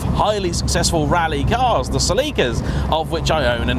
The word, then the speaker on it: Celica: And to any Americans out there sharpening their keyboards, yes, Celica is how pretty much every British person has ever pronounced that name. I've never met a person from these sainted shores who's called it a Celica.